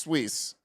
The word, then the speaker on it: Suisse: perceive it to be safer Swiss okay it's pronounced Swiss I'm not cultured like y'all so Credit Suisse